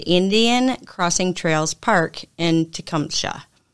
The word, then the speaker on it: Tecumseh: on March 21st at the Indian Crossing Trails Park in Tecumseh. Tecumseh. Yeah, that's how you pronounce it.